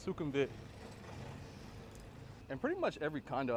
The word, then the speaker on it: Sukhumvit: So the Whizdom Connect Sukhumvit Sorry, it's not Sukhumvit. It's actually pronounced Sukhumvit. I be saying stuff wrong sometimes, but it's Sukhumvit.